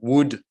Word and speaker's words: would: Donc il suffit juste de mettre de would devant. Petite remarque, on ne prononce pas le L, jamais. would, on dit would.